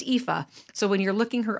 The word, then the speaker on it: Aoife: So it's pronounced Aoife.